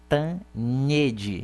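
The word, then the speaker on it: Cantanhêde: A pronúncia do nome de Eliane é complicada, mas é Cantanhede, é assim que eu pronuncio, Eliane Cantanhede.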